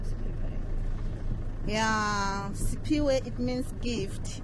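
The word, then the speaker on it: Siphiwe: Laurie wants to know if there's an English translation of your name, Sipiwe.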